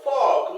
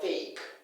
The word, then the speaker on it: fork: the fork not fake it's pronounce as Fork not fake Fork Fork give me the fork not fake right it's not fake it's Fork okay now there's no